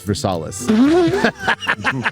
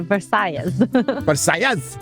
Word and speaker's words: Versailles: Is it Versailles? Versace Versailles. Versailles. Versailles. Versailles. The S at the end of Versailles is definitely silent, so do not pronounce it.